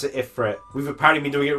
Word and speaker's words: Ifrit: No, they don't pronounce it Ifrit. We've apparently been doing it wrong. How do they pronounce it? Ifrit.